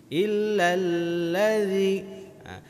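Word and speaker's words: إِلَّا الَّذِي: Kalau terbaca lazi itu posisinya lidah kita di belakang. Al-lazi. Ini bukan al-lazi tapi ini dal yang bertitik, bacanya illal lazi. Lidah kita harus melewati gigi seri, harus tampak keluar.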